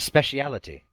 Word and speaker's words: speciality: And speciality. Sith Lords are our speciality. There's an extra syllable that's not written in the word. Let's It's see specialty.